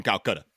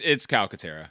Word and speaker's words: Calcaterra: actual last name, but I'm gonna call him Calcutta. Calcaterra? Yeah, it's Calcutta. Calcutta. It's Calcutta. I didn't know if I was pronouncing it right.